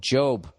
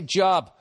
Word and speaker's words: Job: up the book of job huh look at that i said it right i didn't say job job which reads as a